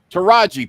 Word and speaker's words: Taraji: out on her name it's notas it's teraji Taraji P there you go and that's why I